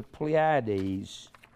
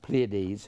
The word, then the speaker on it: Pleiades: This is the exact pattern of the Pleiades, or Pleiades, however you want to pronounce it.